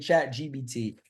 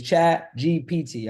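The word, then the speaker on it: ChatGPT: me it's chat GP I got a bad habit of saying chat gbt it's chat GPT all right for y'all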